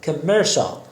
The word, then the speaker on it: commercial: commercial بچه CIAL شال تلفظ میشه. commercial آگهی تجاری یا تجاری.